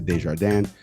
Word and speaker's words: Desjardins: correspondent over at PBS's NewsHour and that's Lisa Desjardins Lisa Mike Leon thank you so much for